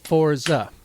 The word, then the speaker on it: Forza: Forza. Forza. 2 syllables.